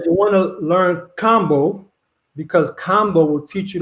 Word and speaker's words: kambo: Well, let's get off into, is it Cambo or combo? How do you All say right. it? So I would say it's combo because Combo. other countries, they don't really pronounce A's with the long A.